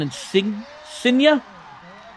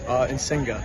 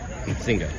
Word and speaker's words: Insinga: How do you pronounce your last name? Insinga. Insinga.